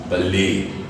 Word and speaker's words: ballet: Alright, a word like BALLET is a word of French origin. As a result, ET is pronounced as A. This word is pronounced as ballet.